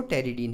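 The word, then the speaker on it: pteridine: तो ये जो है आपका टेरिडीन का डेरिवेटिव है, ये P साइलेंट रहता है टेरिडीन में, तो टेरिडीन मत पढ़िएगा इसको, टेरिडीन ही पढ़िएगा, ठीक है।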